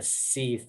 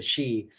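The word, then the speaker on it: Sidhe: And then he also mispronounced the she. I think he was calling him the Seath or something. Shift. Yeah. Yeah. And he's like, oh no, it's the she.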